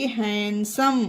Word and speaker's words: handsome: Okay, यहाँ पर डी है लेकिन फिर भी इसे पढ़ा नहीं जाएगा क्योंकि डी यहाँ पर साइलेंट होगा, क्योंकि डी के बाद एस है।